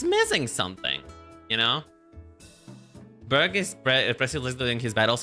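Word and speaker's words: Burgh: He's from generation five and Berg. Okay, Berg. Thank you. Thank you for letting me pronounce helping me pronounce it.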